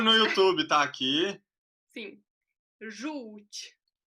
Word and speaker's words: Żółć: Então, żółć é com O. Não se pronuncia, não, é Ju com U. Então, é a mesma coisa que aqui nesse lugar aqui fosse um U.